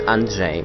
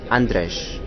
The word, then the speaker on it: Andrzej: yes that is true whenever D person tries to pronounce my name which is anre which is uh a n d r Z EJ it comes Andres so even Martine ping